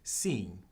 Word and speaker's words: sim: How you say yes in Portuguese is sim. Sim. It's kind of like si, but except with an extra letter on it.